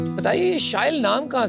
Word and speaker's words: शाइल: So as you just said, it rhymes with style.